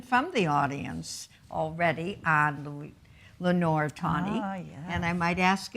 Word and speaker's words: Lenore Tawney: And then the last one, Lenore Tawney. Is that the way you pronounce it? Yes, Lenore Tawney.